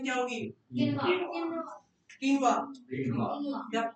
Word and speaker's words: quinoa: Quinoa. The pronunciation is quinoa.